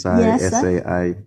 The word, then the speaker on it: Sai: so tell me you mentioned your name is Sai am I saying it right yeah my name is sa I you call me Sai Sai you know what